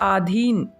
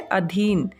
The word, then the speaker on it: अधीन: इसी प्रकार से एक और शब्द है आधीन, बोलने में हम गलत करते हैं, लेकिन ये होता है अधीन।